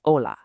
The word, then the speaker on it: hola: In Spanish, that is hola. Now, what's really interesting here is that the H is totally silent. It's literally just hola.